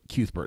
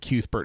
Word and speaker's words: Cuthbert: the pronunciation of it so it makes me think that cute Bert is the right way but if we have cuthbert folks you're welcome here